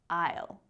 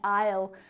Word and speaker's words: aisle: There are lots of times like in the word bread and aisle where A doesn't really need to be there at all because it doesn't affect the sound that we make. Bread may as well be written as bread right and aisle